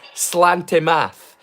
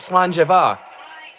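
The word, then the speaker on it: Sláinte: I said slangar rather than slantmath cuz it spelled like slanty math. It's spelled totally different than it sounds cuz you say it slange.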